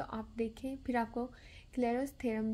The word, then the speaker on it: Clairaut: आप देखें, फिर आपको क्लेरर्स थ्योरम भी समझ में आएगा। तो आज हम करेंगे अपने इस आर्टिकल में क्लेरर्स थ्योरम। क्लेरर्स थ्योरम में हम टी को प्रोनाउंस नहीं करते, हम क्लेरो पढ़ते हैं।